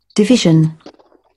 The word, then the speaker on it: division: Division. Division. ডিভিশন, এই যে জ সাউন্ড, এই জ, এই জ সাউন্ড, ডিভিশন, ডিভিশন।